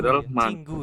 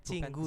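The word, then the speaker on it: 친구: kafe Oh cingurel man Cin eh copi copy cingu ya BAC bacanya cinggu Ya bukan cingu cinggu cingu Pak Eng Pak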